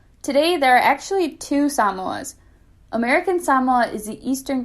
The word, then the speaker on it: Samoa: islands known as american samoa a quick note before i continue a lot of people call it samoa but the correct pronunciation is actually samoa so now you know